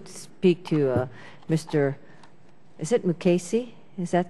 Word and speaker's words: Mukasey: Is it Mukasey?